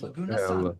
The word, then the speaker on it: Laguna: Lagouna, I guess. Laguna. I love it.